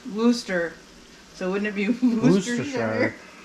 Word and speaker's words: Worcester: be Worcestershire sauce because they pronounce Worcester Massachusetts I think it's the name of the town as Wooster so wouldn't it be